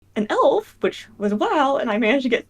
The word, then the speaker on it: Mhaol: pronounce your character's name my character's name is pronounced wow with like a w and like an ow sound at the Bas um